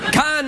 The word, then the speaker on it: Cannes: Cannes is the French pronunciation. If you say Cannes, it really pisses off French people. So I always say Cannes.